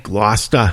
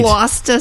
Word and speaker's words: Gloucester: Gloucester. Say it right. Gloucester Sea Serpent.